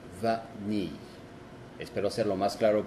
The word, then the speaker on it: vanille: Si hay una vocal que sigue de la N, no se dice en. Por ejemplo, vanille, que es vainilla. Vanille. Vanille. Como se dan cuenta, se dice la A normal y la N con la I que sigue. Vanille.